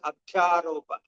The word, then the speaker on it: Adhyaropa: Adhyaropa is pronounced as Adhyaropa.